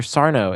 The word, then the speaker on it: Sarno: That's Sarno. No, mister. Accent on the no.